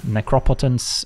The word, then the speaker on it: Necropotence: okay is this a turn one necropotence or necropotence I've uh learned is the correct pronunciation apparently opponents got a full grip all